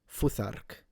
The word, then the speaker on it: Futhark: I disagree with his pronunciation of the R because he did the English R. I think it was rolled. I think it would be R, Futhark.